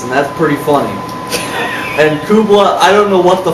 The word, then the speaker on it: Kublai: And Kublai, I don't know what the fuck I was smoking, but you're gonna be named Kublai. Because it rhymes with hoopla.